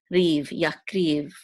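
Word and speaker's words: יַקְרִיב: And this is the resh with the chirik, and the yud together will say ri, and the vet is part of it, so it's riv, yakriv.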